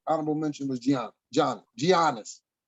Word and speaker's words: Giannis: mention was gian johnny giannis giannis the g is silent like a lasagna that's a good